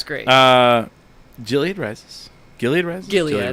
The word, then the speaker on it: Gilead: Gilead. Gilead. Hard G. You know I'm not going to correct you.